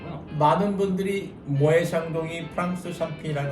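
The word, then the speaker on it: Moët & Chandon: 대부분의 분들이 또 이 발음을 모엣 샹동 이렇게 발음하는 분들이 많아요. 그렇죠. 요거는 사실 저도 조금 얘기를 들어보고 싶었는데 네네. 왜 모에 자. 모에 샹동이라고 하는 거예요?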